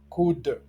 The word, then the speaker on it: could: Remarquez que could, should et would s'écrivent avec un L, mais ce l est mué. et ne se prononce pas.